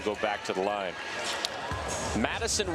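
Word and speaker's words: Matyson: Madison Wilkie is spelled M-A-T-Y-S-O-N. Interesting spelling. Well, her dad is Matthew, her mom is Allison. They mixed the two names to get Madison.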